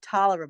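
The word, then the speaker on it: Taliaferro: Richard well, actually Richard Tolliver, but spelled the same way, was George Whiff's father-in-law.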